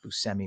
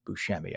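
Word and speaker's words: Buscemi: And yes, he pronounces it Busmi, not Bushami.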